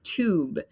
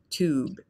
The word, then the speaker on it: tube: So in American English, we say tube. So it's really just ooh, ooh, tube, tube. In the British English, they often add kind of a Y sound there.